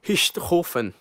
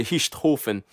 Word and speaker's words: Richthofen: era o sobrenome dele, Richthofen. Na verdade, de onde que ele era, a pronúncia é um pouco diferente da minha, né? Richthofen.